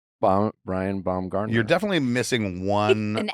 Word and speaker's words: Baumgartner: mispronounce? What is it? Oh my God, now I have anxiety. Didn't I? Brian Baumgartner. Brian Baumgartner.